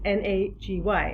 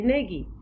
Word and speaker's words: Nagy: Most people look at my name and pronounce it with two syllables because it's N-A-G-Y, and most people say Nagy. It's a Hungarian name, and I use the Hungarian pronunciation of Nagy. It rhymes with Taj in Taj Mahal, if that makes it easier.